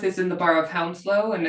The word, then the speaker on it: Hounslow: But he pronounced, so Hanworth is in the borough of Hounslow, and it's right next to where I live. He pronounced it Hoonslow.